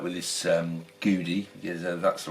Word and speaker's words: Gudi: see what the quality was like with this Judy that's the right pronunciation they don't do a huge range it's